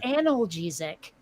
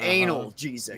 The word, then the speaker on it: analgesic: you have to explain to someone that it's pronounced analgesic yeah not anal jesus yeah yeah now you want to know the